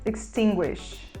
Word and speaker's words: extinguish: e é o verbo extinguish extinguish extinguish a gente pronuncia mais próximo do e fechado e o uso da